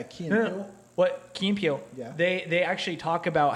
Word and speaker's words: Key and Peele: But there's a sketch where Keen and Peele. or How do in you pronounce Germany, that? yeah, Key and No. Peele. What Key and Peele?